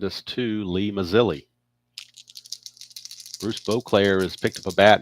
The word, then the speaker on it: Beauclair: I used to call him Boyclair when I was younger because that I was there, but I've obviously learned later on it's pronounced Beauclair.